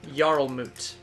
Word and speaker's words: Jarlmut: Yoromut. Jarlmut. Like a Jarl is in Skyrim. Moot as Yeah. M-O-O-T.